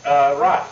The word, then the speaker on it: Roth: Yes, Rot. The name is pronounced Rot.